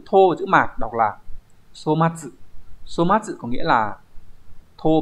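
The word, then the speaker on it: 粗末: 4 chữ Hán là chữ thô, chữ mạt, đọc là somatsu.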